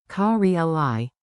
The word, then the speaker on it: Կարելի: Rhythm. Ka-ri-li, then add the question.